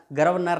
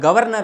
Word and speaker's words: गवर्नर: तो गर्भ अनारो गया गर्वनर नहीं होता मेरे दोस्त गर्व नहीं होता गवर्नर होता है तो गवर्नर गवर्नर गवर्नर